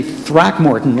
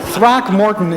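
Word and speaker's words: Throckmorton: program who could say throck Morton like Lea Lanson I mean throck Morton is three syllables right that's right but you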